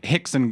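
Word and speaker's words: Rickson: Enzo Gracie, cousin of Hickson Gracie and Hodger Gracie, and You train with they the all Gracies? have an R in their name and they all pronounce it like an H.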